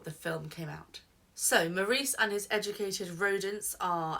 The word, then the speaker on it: Maurice: I've been saying Morris since I first read this in 2005. And it turns out it's Maurice, and I've been saying it wrong this whole time.